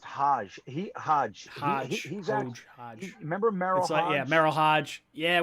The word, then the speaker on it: Hodge: hoge the the tristan hodge the guard from yeah from byu i think it's pronounced hajj remember yeah meryl hodge